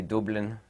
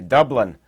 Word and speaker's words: Dublin: going on downtown Dublin I'm going to say it properly there an Irishman would say it when they say Dublin and here in the United States we say Dublin it's it's extremely shame